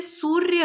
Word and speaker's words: सूर्य: जैसे सूर्य है, तो सूर्य, सूर्य, र का उच्चारण पहले आ रहा है।